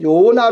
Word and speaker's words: 요나: 됩니다 자 간단하게 생각하고 요나 라는 이름은 히브리어로 나오는 발음입니다 10 을이 어로 요나 라고 발음을 해요 자 그런데 시대가 경고하면서